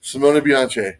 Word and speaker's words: Simone Bianchi: And he said, Simone Bianchi.